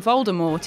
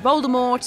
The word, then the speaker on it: Voldemort: included a paragraph that told us all the t in voldemort is silent 2.